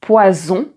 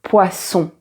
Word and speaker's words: poisson: là, tu as la différence entre le son Z et le son S. Donc, ici, tu as poison et ici poisson.